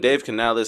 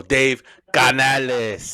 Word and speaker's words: Canales: And Dave Canales. Obviously I said earlier the culture has shifted. Nope, you said it wrong. Oh, Dave Canales.